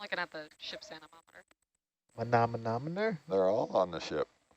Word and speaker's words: manometer: Manometer. Yep, that's how you say it. That's how you say it, right? Yeah, Manometer.